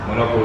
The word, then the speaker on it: Menorca: Is that M-A-L-L-O-R-C? M-E. So it's not Mallorca. It's a different island.